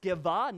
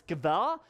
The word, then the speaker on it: Sceva: Seven sons of Sceva, yes, that's actually pronounced Sceva, not Sceva or anything like that, it's Sceva, and the seven sons of Sceva, a Jewish chief priest, were doing this.